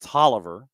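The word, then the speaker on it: Taliaferro: Uh the county that is on your way to Augusta that looks like Talia Pharaoh is pronounced Taliviver that literally it's these are just things that you learn and they stick with you.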